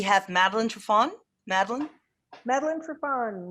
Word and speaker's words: Triffon: and then we have madeline trafon madeleine madeleine trevon rhymes with chipon from perfect weather in michigan well